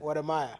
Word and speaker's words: Wode Maya: How do you pronounce it? Wodemaya.